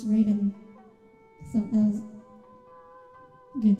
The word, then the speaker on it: Raiden: So the guy pronounced it rotten, and then you went, it's not pronounced like that? And I was like, Raiden, that's Raiden, you pronounce it Raiden.